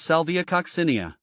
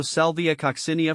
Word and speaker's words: Salvia coccinea: a sound cinia kosia the emphasis shifts to the second syllable here the the co is